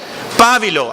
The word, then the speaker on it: pábilo: Pábilo, así se pronuncia.